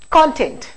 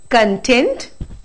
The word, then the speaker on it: content: oriented language you know the syllable stress becomes extremely important i'll take a very common word here as an example we have this word content now this can be